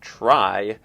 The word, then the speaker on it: trie: bit about the word the word try is spelled t-r-i-e which is a little unfortunate because that looks like it ought to be pronounced tree and a try is a kind of